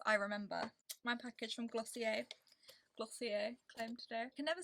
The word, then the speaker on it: Glossier: Oh, whilst I remember, my package from Glossier claim today.